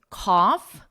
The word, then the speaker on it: cough: An F again, cough, and no GH. It's silent.